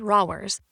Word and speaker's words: Rawers: "Rawers," he pronounced it rowers, shrugged.